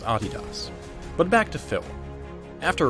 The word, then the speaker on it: Adidas: by the way that is indeed how you pronounce Adidas but back to Phil after riding that vapor